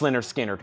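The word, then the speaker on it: Lynyrd Skynyrd: 2lp clear vinyl $46.99 Leonard skinnard pronounced Leonard skinnard gatefold $ 36.99 Slayer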